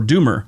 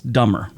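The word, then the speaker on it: Dummer: by Jeffrey Dahmer, or Doomer, whatever you want to call him. But it's spelled D-U-M-M-E-R. I think that's Doober, but it's Dumber.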